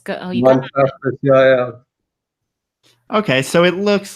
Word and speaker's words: Montaspis: Montaspis? Montaspis, yeah.